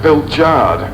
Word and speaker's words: Pilchard: watson with a hyphen it's pronounced bill jard so what i learned